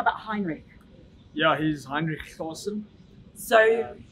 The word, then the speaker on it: Heinrich: just Heinrich Heinrich yeah Heinrich a man with a silent h in his first name okay yeah just says